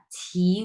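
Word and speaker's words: 起: করলে হবে না হ্যাঁ ছি উচ্চারণ করতে হবে আপনাকে ছি এবং তিন নাম্বার টোন মানে হচ্ছে ঢেউ খেলানো হবে হ্যাঁ ঢেউ উঠবে আপনার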